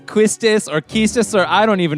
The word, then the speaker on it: Quistis: her name it's quiz if you just pronounce it as it is written it would be pronounced there's an s and a t but you're like i